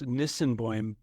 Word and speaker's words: Nisenboim: It's first of all, it's Nisenboim, but Effiji Breathwork. Yeah. Effiji is how you pronounce it.